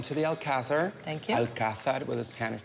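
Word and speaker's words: Alcázar: the city welcome to the Alazar thank you alad with a Spanish pronunciation this word comes from Arabic the translation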